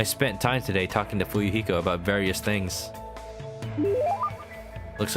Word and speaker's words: Fuyuhiko: absolutely he's a good boy his name is pronounced fuyuhiko remember it got it memorized oh man what